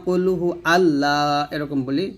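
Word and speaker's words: قل هو: এখানে সদ উচ্চারণ সিন বানা ফেলবেন না কফের উচ্চারণ কাফ বানায় ফেলবেন না এখানে কুলফু বলবেন না কুলহু কহু আল্লাহ বলবেন না কুলহু আল্লাহু আহাদ এই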